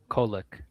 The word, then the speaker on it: Kolek: Yeah, Is it like Kovic or something? Kolek.